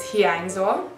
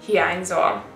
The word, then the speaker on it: hiányzol: And you say the N and the Y. That's one letter. So to pronounce it, think about like saying New York. I know a lot of people say different, like someone say New York, like N, and someone would say N, New York.